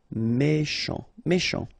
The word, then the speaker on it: méchant: Final T not pronounced. C-H together, sh. Méchant. Excellent.